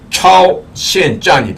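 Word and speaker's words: 超限战: 그러니까 중국식으로 발음하면 초한전은 차오시엔짠이 됩니다. 이 초한전은요, 제가 지금 말씀드린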